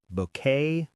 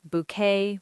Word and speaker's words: bouquet: Also, ballet, bouquet, buffet. All French words where the t is silent. Ballet, bouquet, buffet.